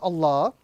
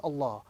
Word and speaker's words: Allah: In the Arabic text, the word Allah can either be pronounced with a round sound or a flat sound.